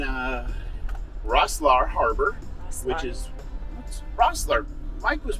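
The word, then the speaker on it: Rosslare: this video in uh rosslar Harbor which is Rossler Mike was pronouncing rockslaughter really yeah okay and uh we're catching an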